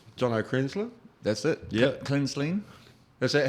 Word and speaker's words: Kraenzlin: Kraenzlin. Is that how you pronounce it?